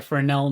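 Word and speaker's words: Fresnel: First, let's add a frenel node. The S is silent.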